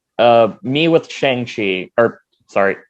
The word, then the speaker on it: Shang-Chi: On his birthday, like I think like last month or a few months ago, he actually like posted like, so it's actually pronounced Shang-Chi, and this is actually how you pronounce my name.